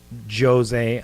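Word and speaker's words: José: But in Brazilian, in Portuguese, it's they pronounce the J, so it's like Jose Aldo. Jose. But because it's Jose. It's Jose because he's from Brazil.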